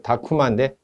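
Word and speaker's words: タクマ: 따라서 수완식 보일러는 1번 타쿠마 보일러. 타쿠마 해도 되고 타쿠마 해도 됩니다. 일본식 발음에는 원래 이제 이런 격음 자체가 없죠. 타쿠마가 아니고 이제 다쿠마인데 다쿠마 이제 약간 경음으로 발음을 해야겠죠.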